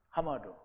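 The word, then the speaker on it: חמד: 그래서 그거를 하마드라고 이제 발음을 하는데요. 하마두 나를 기쁘게 하는 거예요.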